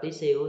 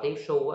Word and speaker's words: tissue: Nếu bạn đọc tí siêu thì nó sờ nhẹ. Nếu bạn đọc là tí su thì nó sờ nặng ha. Cái nào cũng đúng hết, sờ nặng, cái nào cũng đúng hết.